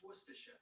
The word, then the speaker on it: Worcestershire: sauce a worcestershire or worcestershire who knows right i mean hey google how do you pronounce worcestershire that's pronounced worcestershire ooh i think it just